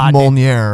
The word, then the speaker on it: Molyneux: It's pronounced Molyneux, I believe.